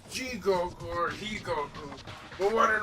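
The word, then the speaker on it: 地獄: You go through this gritty environment selling one-way tickets to hell, or as the Japanese pronounce it, Jigoku.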